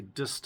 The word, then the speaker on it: Disston: This hand saw is a Dist um I think it's spelled D I S S T O N.